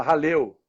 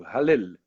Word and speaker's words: Hallel: Eu falava Halel, e ele me ensinou. O Daniel é um cara profundo conhecedor da palavra de Deus, um estudioso, e ele me ensinou a pronúncia correta, né, do Hallel, que são salmos que